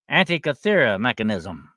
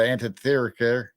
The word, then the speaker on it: Antikythera mechanism: And it's called I'm gonna try to pronounce this for you. It's called an antikythera mechanism.